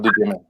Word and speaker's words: Duchement: Vale, pero no se pronuncia en francés. Estamos en España, Vale. así que decimos Duchement.